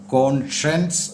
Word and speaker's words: conscience: കോൺസയൻസ് അല്ല പൊതുവേ ആൾക്കാർ പറയുന്നതുപോലെ കോൺഷയൻസ് എന്നുമല്ല പിന്നെയോ കോൺഷയൻസ് എന്നാണ് കോൺഷൻസ് ഇതിൻറെ അർത്ഥം മനസാക്ഷി അടുത്ത വാക്ക് നിങ്ങൾ